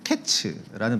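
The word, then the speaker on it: קֵץ: 게다가 이제 여름 과일이라고 하는 히브리 발음은 이제 카이츠인데 끝이라고 하는 히브리어는 이제 캐츠라는 발음을 씁니다. 약간 이제 언어 유희죠. 그래서 여름 과일과 이제 끝이라는 이 두 용어의 발음이 이제 매우 유사하기에, 그리고 하나님께서 이제 2절에서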